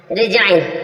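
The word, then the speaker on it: resign: कि जी से पहले डी आता है डी साइलेंट रहता है नेक्स्ट जी जी के रूल्स पर चलते हैं जी रिजाइन रिजाइन मींस होता है त्याग देना रिजाइन रिजाइन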